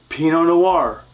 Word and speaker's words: Pinot Noir: Bordeaux France again Cabernet Sauvignon Merlot from France Pinot Noir from France number four is Syrah that's also